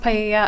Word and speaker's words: paella: going to be used to cook paella. I'm not sure if that's how you pronounce it at the party. It's pronounced paella.